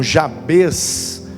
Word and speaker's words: Jabez: a oração de jabes tem gente que pronuncia o nome desse cara como como jabez não tem problema não é prefiro falar jabes porque me parece nem parece que no original a tônica está no ih a né é i.a.